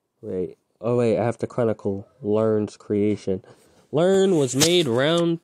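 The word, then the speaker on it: Lurn: name him um learn spelled l-u-r-n but pronounced learn okay you know i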